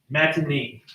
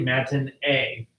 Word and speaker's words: matinee: Keep calling it matinee. Almost sounds like manatee, like the big giant sea cow. It's actually matinee. It's a French word, so it'd be like, you pronounce it like that.